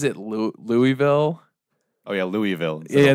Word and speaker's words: Louisville: No, it was he pronounces it Louisville.